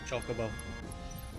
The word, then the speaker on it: Chocobo: Oh, they didn't have uh was it pronunciations when the game was released? Oh, no. Can't believe you guys. Chocobo. It's Chocobo.